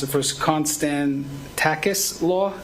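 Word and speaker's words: Konstantakis: We'll pronounce it first. Constan Tacis Law.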